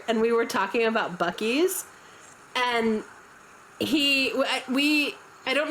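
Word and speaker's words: Buc-ee's: But he did not pronounce it bies. He goes, "Oh, I thought it was Buucy's."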